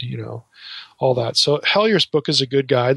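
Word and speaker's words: Helyer: So you could buy, you know, a book like Larry Hellyer's book. His last name is spelled H-E-L-Y-E-R. Okay, Larry Hellyer.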